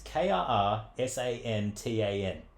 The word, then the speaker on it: Krrsantan: I always mispronounce it. Black, it's Krrsantan.